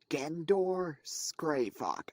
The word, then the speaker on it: Gendor Skraivok: how do you say this idiot's name again gandor scravock I repeat it is pronounced again door scravock it's oh scrava okay